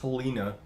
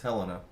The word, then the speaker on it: Helena: And it's not pronounced Helena, everybody. It's Helena. just to straighten that one out, because there's so many times someone will say Helena, Montana.